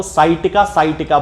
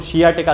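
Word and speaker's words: sciatica: खास तौर से जो पेशेंट हैं वो हमेशा सियाटिका को साइटिका बोलते हैं। तो ये साइटिका एक जनरल प्रोनाउंसिएशन अब इसका बन चुका है। वैसे यदि देखा जाए तो इसको सियाटिका कहना चाहिए।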